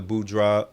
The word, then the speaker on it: boudoir: have, and I've been seeing more of the boudoir.